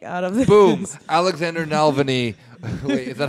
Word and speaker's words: Navalny: But just the idea of the Americanized name Navalny, which Rob's been saying the entire night.